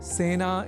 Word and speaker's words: सेना: एक शब्द है सेना, जिसका प्रयोग सेना इस रूप में ही करना चाहिए, क्योंकि सेना में स इस अक्षर के बाद ए इस अक्षर का प्रयोग हुआ है। अतः सेना इस शब्द के उच्चारण में ए इस स्वर वर्ण या अक्षर का ही प्रयोग किया जाना चाहिए, न कि ऐ का।